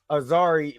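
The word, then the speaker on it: Azzuri: and I said it wrong uh uh Azari Azari was his grandfather to choco was his father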